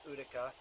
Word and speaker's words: Urtica: If you want to get fancy, urtica, it's U-R-T, even though it's pronounced Utica.